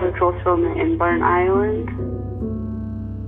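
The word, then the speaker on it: Burntisland: cultural filament in Burnt Island. A place that's written as one word but pronounced as two.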